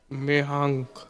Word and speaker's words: मेहांक: मेहांक। मेहाल। मेहांक। अच्छा, स्पेलिंग बताओ अलग अलग।